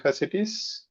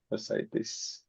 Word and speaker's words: fasciitis: Necrotizing fasciitis. Am I pronouncing it correct? This one. Fasciitis. Yeah. This one. Fasciitis. Fasciitis. Okay. Why 2I? I don't understand. Okay. Fasciitis. Because it's not pronounced as it is written.